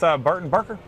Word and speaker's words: Barton Barker: We're back at the Fayette County Free Fair here with Barton Barker.